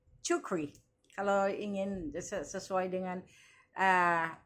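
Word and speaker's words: Czuchry: I think it's pronounce jukri. Tulisannya c z h r y. Chukri.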